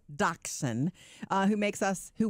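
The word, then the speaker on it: dachshund: mean is the dog how do you say it daxon daon yeah okay four-year-old dachon uh who makes us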